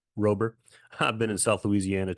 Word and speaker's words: Roeber: Roeber. Roeber.